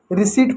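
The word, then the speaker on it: receipt: इसको रिसीट पढ़ते हैं। रिपीट नहीं रिसीट पढ़ते हैं। रिसीट है। ठीक है? क्योंकि पी साइलेंट होता है।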